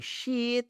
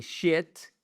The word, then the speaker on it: sheet: Par exemple, une feuille de papier, vous le dites et sheet of paper et surtout pas et shit parce que shit avec la gorge c'est le son court et ça veut dire là mais vous m'avez compris.